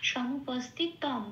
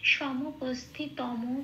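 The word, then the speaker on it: সমুপস্থিতম্: যে যে অক্ষরের নিচে হসন্ত থাকবে সেটা আগের অক্ষরের সাথে জুড়ে উচ্চারিত হবে, যেমন সমুপস্থিতম, তয়ের সাথে জুড়ে উচ্চারিত হলো মটা তম, কিন্তু কখনোই সমুপস্থিতম বলতে পারবো না এখানে।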